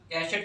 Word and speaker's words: cachet: एक कैशेट और आता है CACHET, यहाँ पे टी आपका साइलेंट है, यहाँ पे टी नहीं है, और इसका मतलब होता है एक सील होती है या फिर प्रेस्टीज होती है।